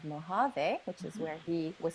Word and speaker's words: Mojave: His name is actually Mojave, which is the American pronunciation of Mojave, which is where he was found in the Mojave Desert.